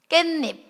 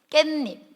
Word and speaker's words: 깻잎: 깻잎 깻잎 맞아요? 깻잎 이거는 깨랑 잎이 합혀지면서 니은니은 소리 덧나네.